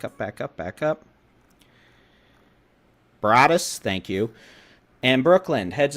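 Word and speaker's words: Broaddus: That's moving south towards Bronson, Pineland, Brodus. I just mispronounced it again, didn't I? Back up, back up, back up, back up. Brodus, thank you.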